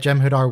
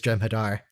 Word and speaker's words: Jem'Hadar: What a failure, this Jem'Hadar. Oh, that Vorta just... He pronounced his H. Good for you, Vorta. You what?